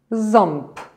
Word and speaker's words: ząb: a wymową jest znaczna Spójrzcie na pierwsze słowo krótkie ząb słyszycie jakie Powiedziałam w zapisie mamy trzy litery z tą igłę awy wymowie mamy 4 głoski mamy z o.o ale więc w zasadzie tylko z czytamy jak z pozostałe dwie litery czytamy zupełnie inaczej a teraz Spójrzmy na